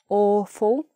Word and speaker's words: awful: This one, awful, awful. So there's a W there, but we don't say w, aw, aw, w, like that. It's just or.